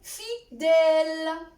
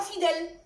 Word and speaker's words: fidèle: Par exemple, dans le mot fidèle. Ce n'est pas fidèle. Fidèle. Regardez votre bouche. Elle est complètement ouverte. Le E, elle est ouverte.